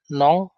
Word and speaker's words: non: Ini N biasa, nong ya. Nong ini artinya tidak atau no. Bacanya nong. N-O-N tapi bacanya nong.